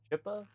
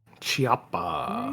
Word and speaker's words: Chiappa: the Rhino was made by, I think it's Chippa? Chiappa. I forget Right. the name, how it's pronounced, F2W.